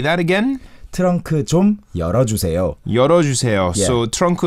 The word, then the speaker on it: 좀: Is it 좀 or 좀? 좀. It is 좀, but some people pronounce it as 좀. 문 좀 열어주세요. Yeah, some cases. But it's supposed to be 문 좀.